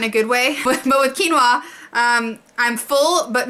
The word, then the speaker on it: quinoa: it I don't know I've also been mispronouncing it for my whole life so I'm from Georgia we don't talk like normal people um but it's quinoa which I've been calling quina my husband corrected me